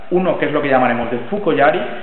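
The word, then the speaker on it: 槍: De hecho, la forma yari tiene dos pronunciaciones: la pronunciación kunyomi, que es yari, como estamos diciendo, que es la pronunciación japonesa, y la forma de pronunciación china, que es so.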